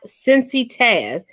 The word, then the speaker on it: CINCITAZ: She was just like, and so you all know, for those of you all that don't know, on TikTok, I am CINCITAZ. It's pronounced Cincy Taz.